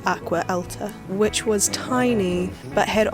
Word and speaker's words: Acqua Alta: up the name for, and I think it's pronounced Acqua Alta, which was tiny, but had old gondola boats